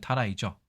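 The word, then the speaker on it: たらい: 있는 그 나시슬 관자와 똑같고 발음은 타라이죠 이것은 우리가 알고 있는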